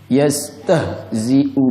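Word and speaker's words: يستهزئ: Nah, izinkan saya mengingatkan Anda lagi, dari mana bunyi 'ha' itu berasal? Dari tenggorokan, bukan dada. Dan ini adalah huruf 'rikhwah', huruf yang lembut. Jadi cara membacanya adalah 'yastah'. Jangan ditekan.' Yastah ''.'' Yastahziu bihim ' .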